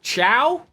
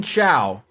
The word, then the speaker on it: Cao: So they're saying Chow, but spelt C-A-O. So they're saying Chow.